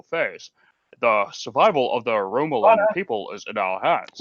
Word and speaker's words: Romulan: It wasn't Picard at all, and it's pronounced Romulan. You bastard. Oh, Romulan.